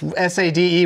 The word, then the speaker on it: Sade: Sade, why is S-A-D-E, why is that pronounced Sade? My name's David Spade, S-P-A-D-E, and you don't pronounce it Ned.